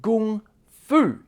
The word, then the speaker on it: Kung Fu: Now realize the term Kung Fu, the Chinese character Kung in Kung Fu is actually the same character as Gung, meaning that it should be pronounced Gung Fu.